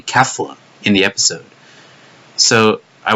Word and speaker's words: Kefla: I mean, people like Kaiser Nico or Herms are all saying Kafla, but or they're spelling it with an A instead of an E, like that first vowel. But yeah, it's still pronounced Kefla somehow, I guess.